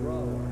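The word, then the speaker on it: Brougher: James Whitcomb Brawler. Brawler, huh? It rhymes with B-R-O-W-E-R.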